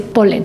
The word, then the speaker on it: polen: del siglo XIX es quitar una L y en castellano se dice polen es decir que igual la misma manera de pronunciarlo aunque se escribe con una l menos con esta aclaración vamos